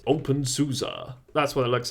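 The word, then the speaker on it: openSUSE: got soul it's fantastic open Susie now this one is cut off I quite like the gecko though it's it's Unique or if you're if you're pronouncing it properly it's open Susa that's what it looks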